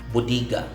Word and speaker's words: bodega: is bodega bodega bodega has a spanish origin and as a word in our dialect it's pronounced as bodiga bodhigas an english word is pronounced as bodega bodega in the very webster